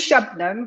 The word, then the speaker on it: Shabnam: you do uh yeah my name is shabnam which people for some reason especially the brits find it very difficult to pronounce even though it's two syllables named shotnam and um